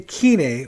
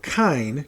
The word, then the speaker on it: kine: That's the term vampires use to describe their species to each other, and believe that without it, the kine, or kine, depending on your pronunciation, it's the term for humans, would rise up and pull a mass blade event, basically, on all the undead.